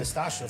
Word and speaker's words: Nastacha: and Nastacha from Jigsaw Youth. Hi. Welcome. Thanks for having me. Did he pronounce her name right? Nastacha.